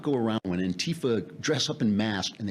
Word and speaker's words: Antifa: I mean, look at you know, this thing with Antifa. Now we got to put the accent on the T. It's on the wrong side. Something wrong syllable.